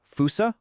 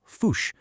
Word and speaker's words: fossa: Well, it's pronounced fousea or sometimes you'll hear foo.